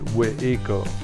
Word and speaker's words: Waco: The way that a person would be pronouncing Waco here in Waco 200 years ago would be Weiko. So it's like we, like in with, and eco, like eek.